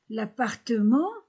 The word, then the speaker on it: appartement: L'appartement, ENT, en.